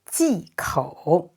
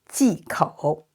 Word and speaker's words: 忌口: And OU is pronounced O. So third tone, 口, 忌口, 忌口.